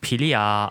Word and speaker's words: Philia: Her codename is pronounced Philia, which is a word for love in ancient Greek.